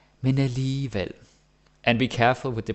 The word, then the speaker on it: alligevel: Because you got to remember that G is either silent or is pronounced like a Danish J or an English Y. Alligevel, right?